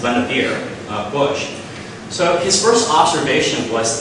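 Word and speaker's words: Vannevar Bush: is very difficult to pronounce um but it's pronounced lenavir bush so his first observation was that scientists and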